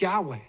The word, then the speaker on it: Yahweh: And he says it's Yahweh. And he says it's Yahweh also because of how my Yemenite wife would pronounce this name.